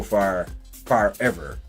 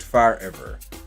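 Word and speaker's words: Farever: going to be so far ever. Yes, again, it is pronounced far ever. I'm not mispronouncing it. It is far ever. A play on the word forever, but it looks good, and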